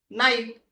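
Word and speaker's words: knight: ऐकला असेल काय असेल के सायलेंट आहे केचा उच्चार करू नका आणि रीड करा नाईट नाईट म्हणजेच काय तर योद्धा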